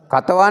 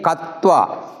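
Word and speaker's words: कत्वा: कहता है कवा कत गलत तवा नहीं कहना एक कत्व कत्व अनुग्रह त्वा अनुग्रह क नहीं कहना आप लोग उसे उच्चारण सुधार लीजिए क्योंकि आपको आदत हो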